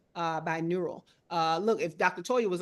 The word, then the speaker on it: binaural: So that I think that's BINURAL, binaural.